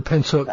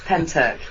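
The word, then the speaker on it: Pentyrch: pronounced isn't it the pentoc incident yes i've always pulled the pins here because of the way it's spilled you know you know us english yes indeed yeah it's pentec ufo instead yeah so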